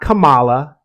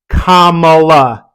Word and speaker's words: Kamala: to endorse any candidate it's not Camala it's not Kamal it's not it's not all these things that have been made up Kamala Harris I listen to a